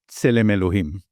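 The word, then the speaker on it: צלם אלהים: Tselem Elohim.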